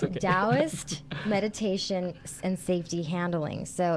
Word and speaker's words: Taoist: Let me say it right. Taoist. Taoist. Okay, I'm sorry. No, it's okay. I'm American. No, oh my gosh, no, I shouldn't have said that. The T is, yeah, D in Chinese.